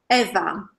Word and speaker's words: Ewa: Is it pronounced Eva or Ewa? Eva. Eva. Yes.